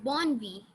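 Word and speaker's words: bonne nuit: To pronounce this, you can even say born and then you can say V, the alphabet V, born V.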